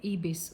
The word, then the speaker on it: Ibis: So I finally got one um um hotel ebase or Ibis some pronounce it and it's I check